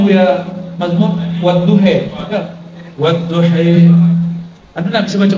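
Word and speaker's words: وَالضُّحَى: Bacanya Buya Mazmur wadduhe, wadduhe. Anda nak bisa baca Quran itu? Walaili idza sajid. Payahnya bukan AE tapi imalah. Kalau nak biasa bacanya kita baca E. Padahal A yang ada dicondongkan kepada ya.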